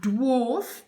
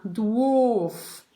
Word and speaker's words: dwarf: Et puis, on a dwarf pour les animaux qui sont nains ou nains en général. Dwarf, dwarf. On prononce W-A avec le son O en fait, hein, dwarf.